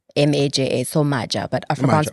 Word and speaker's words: Maja: M-A-J-A. So Maja. But Afrikaans Maja, okay. people assume it's a Y, right? Maya. Maja. Yeah, they say Maya.